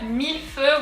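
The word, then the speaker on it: Mille Feux: a duck face and the x is silent so let's go ahead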